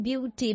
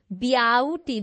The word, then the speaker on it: beauty: BE ब्याउटी, ब्याउटी तो नहीं हम बोलते, BE के बाद ए साइलेंट हो जाता है, ब्यूटी ब्यूटी, ऐसे ही है ना?